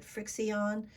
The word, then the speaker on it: FriXion: And it's called, I think you pronounce it Frixion, but it's made by Pilot.